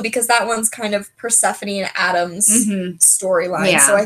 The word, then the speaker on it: Persephone: I love the like trio of, I'm gonna butcher this, Calla, Persephone, that's how you say it, Persephone, and Mara.